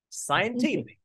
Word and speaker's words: scientific: Scientific.